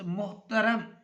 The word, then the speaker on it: محترم: اس کے بعد عزیز طلبہ ہے اگلا لفظ محترم. محترم میں پہلا مضموم، دوسرا ساکن، تیسرا اور چوتھا مفتو.